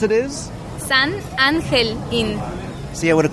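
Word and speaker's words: San Angel Inn: would have called it San Angel in and I would have ruined segment right from the beginning it's it's like the G the G in English you would pronounce it angel in Spanish would be ancle an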